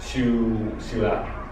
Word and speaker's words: ciudad: The combination of two vocales cerradas, it also creates a single syllable. And I'll give you an example, right? So, ciudad. Ciudad.